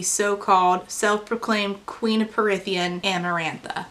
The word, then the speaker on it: Amarantha: self-proclaimed queen of parthian amarantha amarantha you know amaranth that grain that we used to eat when we were vegan like that but with an A on the end so I just think